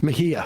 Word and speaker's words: Mejia: Yesterday, we had announced that Mieha in New Jersey's 11th district had won the special election. That's Ana Lilia Mejia. Mejia. As the one person who can pronounce it in this office.